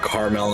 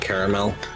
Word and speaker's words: caramel: It's like caramel and caramel. I've also heard like caramel where you kind of put them more at the end of the word there too.